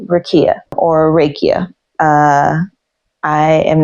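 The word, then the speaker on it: rakija: is called Ria or raikia uh I am not sure of the pronunciation but it is spelled r a k i j a and I believe that J makes a y sound it is a drink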